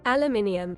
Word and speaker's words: aluminium: Because it's a rare example of a word that's both spelled differently and pronounced differently. Aluminum. Aluminium.